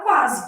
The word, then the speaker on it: quase: Então, estou lá na palavra quase, que deve ser minha resposta, né? O U é pronunciado, quá. O S tem som de Z aqui, posso representar com Z